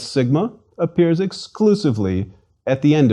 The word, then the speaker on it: Sigma: as you prefer Sigma Sigma is equivalent to s and pronounced as the s in sing not however that there